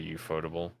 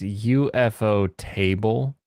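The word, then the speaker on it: ufotable: you photo like I I heard it's UFO table based on pronunciation I thought it should be you photoable it's it's UFO table but that's what I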